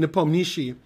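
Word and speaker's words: Nepomniachtchi: lot easier than saying nipponishi um I think Palm is where the accent is nipom Nishi and also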